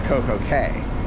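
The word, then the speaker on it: CocoCay: it's okay it's understandable considering that i know castaway key this is coke okay they're spelled the same way yeah independence on my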